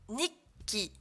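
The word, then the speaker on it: にっき: La prononciation. L'écrivain, ça se dira Saka. Journal intime, Nikki.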